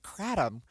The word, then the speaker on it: Kratom: It's that over-the-counter thing you can get, Kratom, or Kratom, right? So I've heard it pronounced a couple of different ways, but I've never heard of it.